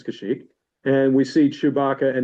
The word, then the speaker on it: Kashyyyk: I don't really know how to pronounce that. Kashyyyk. I guess it's Kashyyyk.